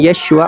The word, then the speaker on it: Yeshua: Jadi kesalahannya bukan di pengucapan. Kalau kita berteman dengan orang Yunani kemudian mengatakan Yeshua, mereka bisa kok ngucapin Yeshua.